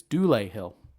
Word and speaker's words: Dulé Hill: So I actually found YouTube videos to learn how to pronounce his name, and it's Dulé Hill.